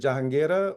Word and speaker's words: Jenera: Is it Jenera or how how am I how how should I how should I say it? You pronounced it correctly.